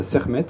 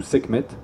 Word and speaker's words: Sekhmet: décida d'envoyer sa fille, la déesse Sermet ou Sekhmet, en fonction de comment on prononce, c'est le KH en fait, donc soit Re, soit Que, qui est la déesse lionne.